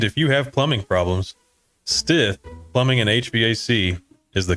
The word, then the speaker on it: Stith: stiff and Stith but it's Stith just like it's spelled and if you have plumbing problems Stith Plumbing in hbac is